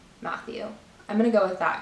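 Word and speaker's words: Mathieu: I've heard this pronounced a couple different ways, but I think it's Matthew.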